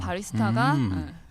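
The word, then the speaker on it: barista: 바리스타가 그래서 왜죠? 몰랐어. 아니요. 끊어 읽어야 됐네. 예. 이탈리아 공부하신 분으로 맞아요. 맞나요? 본토 발음 한번 해주시죠. 본토 발음이요? 본토 발음 맞나요? 모르겠어요. 바리스타 맞나요?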